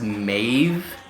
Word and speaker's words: Medb: three controllers active oh medb is pronounced mave and is a oh